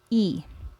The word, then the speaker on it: y: When Y is used as a conjunction, then we pronounce Y as E.